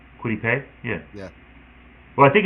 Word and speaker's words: Kwity Paye: Kwity Paye?